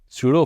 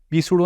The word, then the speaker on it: pseudo: तो I hope आपको यहाँ से नकली force, सूडो force, पी silent है, पी सूडो ना बोलना, पी सूडो, सूडो फोर्स